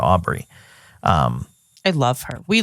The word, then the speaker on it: Aubrey: always it's always like replacing the B with the D and pronouncing it Audrey instead of Aubrey um I love her